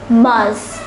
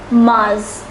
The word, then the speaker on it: mars: written as favorite once more favorite March is pronounced as Mars once more Mars April is pronounced as Avril Avril so let